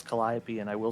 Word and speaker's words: Calliope: yes AJ that is in fact how you pronounce Calliope and I will say it again just so